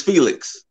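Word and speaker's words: Fénix: So, and with Phoenix is Felix. Ray Phoenix. It is kind of spelled like Felix, just, you know, without the L.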